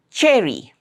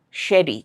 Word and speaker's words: cherry: Lot of people are not able to pronounce this sound correctly. They'll say sherry. Sherry something like that. They find it very difficult to pronounce this sound. Cha cherry. Next word is cheat.